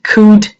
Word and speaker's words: could: when you read them you do not pronounce any L you say would could and should not would could should no would could should